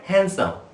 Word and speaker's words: handsome: একই রকম ভাবে আমরা হ্যান্ডকারচিপ, হ্যান্ডসাম, HANDSOME, এই ডি এর উচ্চারণ কিন্তু এখানে পুরোপুরি সাইলেন্ট। তো উচ্চারণটা হবে হ্যান্ডসাম, হি ইজ এ হ্যান্ডসাম বয়।